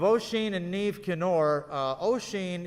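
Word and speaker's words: Oisín: and neve kenor uh ocean is spelled o s i uh o s o i n it's an irish uh spelling uh and neve is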